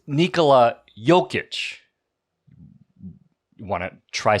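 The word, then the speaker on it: Nikola Jokić: bro no it's not it's Nikola jokic you want to try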